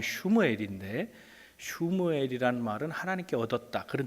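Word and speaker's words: שמואל: 그의 아들의 이름은 사무엘, 본 발음하면 슈무엘인데 슈무엘이란 말은 하나님께 얻었다 그런 뜻입니다.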